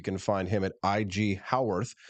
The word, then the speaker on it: Haworth: find him at IG howorth spelled ha a w t h looks like Hayworth but it's pronounced like how on Earth IG uh IG howorth